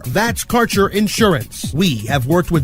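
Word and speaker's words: Kaercher: sponsors your connection to Quality cannabis Insurance Services is spelled k a e r c h e r that's carer insurance we have worked with Ventures like cannabis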